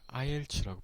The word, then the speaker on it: IELTS: 그리고 이 밑에 있는 이 시험은 어떻게 발음할까요? IELTS라고 보통 말을 하는데요.